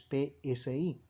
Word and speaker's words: psi: griegas del ipsi si eso se pronuncia es psi sí vamos a encontrar